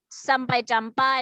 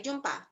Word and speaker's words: jumpa: Please pronounce sampai jumpa. Talalang. Sampai jumpa. Sampai jumpa. Jumpa. Jumpa. Okay, sampai jumpa. What about Vivian? Sampai jumpa. Very good. Not jumpa, jumpa, ya.